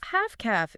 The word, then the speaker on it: Half-caff: Half-caff, it rhymes, which makes it easy to remember.